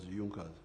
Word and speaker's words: Junkers: It is written junkas but they pronounced it as Junas.